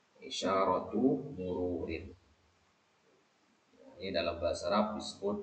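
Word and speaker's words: إشارة مرور: kata seperti ini maka kata keduanya itu harus ditanwinkan dengan kasrah isyaratu mururin jadi harus kasrah dia ya isyaratu mururin ini dalam bahasa Arab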